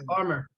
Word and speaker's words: Armour: How'd you pronounce that last name? Is that Mark Armour. Armour? Yeah, Armor.